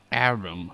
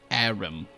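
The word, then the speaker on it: Harrim: Arim. Okay, so the H is silent. Arim.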